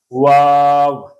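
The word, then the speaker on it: واو: अब बाज़ असातिज़ा इसको वाव पढ़ाते हैं जी, बाज़ वाव पढ़ाते हैं, बाज़ वाओ पढ़ाते हैं। ये बिल्कुल दुरुस्त नहीं है। 3 हरफ़ी हुरूफ है, बड़ा मद है, अलिफ है। इन सारी चीज़ों को मद्देनज़र रखें, इस हरफ को पढ़ाएंगे वाव।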